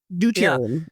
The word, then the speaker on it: deuterium: Deuterium, yeah.